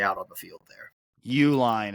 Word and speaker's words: Uline: Uline is how the name is pronounced. Uline. Just think Uline. If you go to the Northwestern website, but pronunciation is just Uline. So think of it that way, a little bit less complicated than what you tried to go with there.